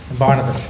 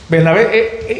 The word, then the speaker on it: Bernabé: Yo siempre pronuncio en inglés en mi mente, Barnabas, pero Bernabé, y vi una división en ellos.